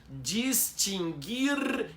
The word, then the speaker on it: distinguir: São 3 verbos em que o U não é pronunciado. É extinguir, distinguir e adquirir.